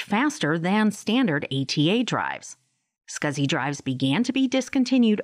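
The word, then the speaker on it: SCSI: least four SATA ports small computer system interface pronounced scuzzy hard drives join the storage Market in 1986.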